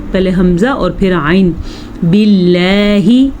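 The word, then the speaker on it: بالله: اعوذ، اعوذ، پہلے حمزہ اور پھر عین۔ باللہ، اللہ کا نام باریک کیونکہ اللہ کے نام سے پہلے زیر ہے۔ باللہ، اعوذ باللہ من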